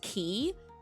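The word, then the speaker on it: χ: So it's like Kingdom Hearts Kingdom Hearts Kingdom Hearts Chai like the Greek letter chai. And I am going to call it chai. In the series they pronounce it as key but to avoid um confusion I'm going to call it chai.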